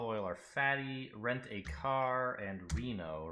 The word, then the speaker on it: RINO: or fatty rent-a-car and RINO rhymes with casino so it's tightened eyes